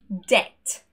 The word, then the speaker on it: debt: And when we see the letters BT together, they are also silent. Debt, doubt, subtle.